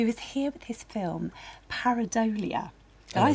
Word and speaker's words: Pareidolia: Stuart Morris, who is here with his film Pareidolia.